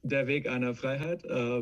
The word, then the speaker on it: Der Weg einer Freiheit: How did I do on the pronunciation? Quite all right, yeah. It's Der Weg einer Freiheit, but yeah.